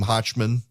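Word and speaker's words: Hochman: Review Nate hotman Nate am I misspelling or mispronouncing your last name hotman no you nailed it which is um unusual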